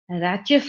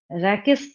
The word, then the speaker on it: rachis: मैं यहाँ पे लेबल कर देती हूँ, इसको हम लोग रैचेस बोलते हैं, कई टीचर इसको रैकेस पढ़ते हैं। जो भी कीजिए स्पेलिंग वही रहेगी, स्पेलिंग तो नहीं चेंज होना।